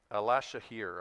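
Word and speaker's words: Alaşehir: Yeah, but I think it's with an SH. Alashahir, I think is how they say it.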